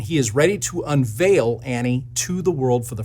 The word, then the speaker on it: ANNIE: it's a program that's called an e or pronounced Annie it's short for analytical